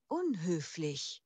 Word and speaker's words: unhöflich: ইম্পোলাইট, উন হোফলিশ, impolite, এটার প্রোনাউন্সিয়েশনটা কিভাবে হবে? unhöflich, unhöflich, unhöflich, impolite, তার মানে কি?